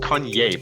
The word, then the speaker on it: Kanye: So it's pronounced Kanye, but he's calling himself Ye.